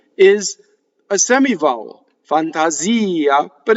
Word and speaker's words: fantasia: Notice that all of the ahs in Italian just make ah. Ah is a perfectly phonetic vowel in Italian. It never does anything else. In English, Fantasia, the A's make two different sounds. A's make hundreds of different sounds in English, right? In Italian, it only makes one sound.